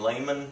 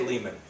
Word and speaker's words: Lehman: Wing I mean the often I hear the pronunciation Layman which is probably closer to the German right but but in America we say Leman uh it sounds harder it sounds uh um